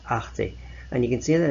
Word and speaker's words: Arte: The next channel we've got down the line here is Arte, and this is how it's pronounced, Arte.